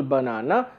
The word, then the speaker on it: banana: to be said so for example banana the second has to be stress first does not have to be stressed third does not have